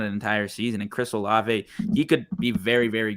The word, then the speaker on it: Olave: Lamb, Hall, Herbert, BMW, Dylan, Ayuk, and then is it pronounced Oclave? Olave, Chris Olave from Ohio State. There's not even a C in there.